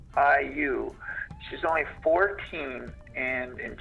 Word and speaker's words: Liu: Alyssa, and I don't know how to pronounce her last name. It's Liu.